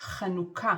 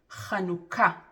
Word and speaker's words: חנוכה: a-khat kha-noo-kah במילה אחת - חנוכה is officially pronounced as follows: ne-he-gah be-o-fen reesh-mee kakh: נהגה באופן רשמי כך Hanukkah kha-noo-kah חנוכה The emphasis is on ha-had-ga-shah hee al ההדגשה היא על the last syllable.